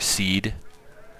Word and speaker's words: SEAD: Definitely, in retrospect, a SEAD or a SEED. I'm told that seed rhymes with sneed, and saying that out